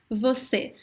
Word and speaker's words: você: Você. Many times we pronounce this word as se.